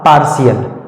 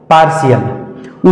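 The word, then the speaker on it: partial: तरह से आगे है पी ए आर टी आई ए टी के तुरंत बाद आई ए आया तो इसका सही उच्चारण हो जाएगा पार्शियल पार्शियल उसी तरह से आगे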